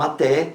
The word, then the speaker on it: até: última até até então até leva acento gráfico porque é oxítona terminada em é da mesma forma app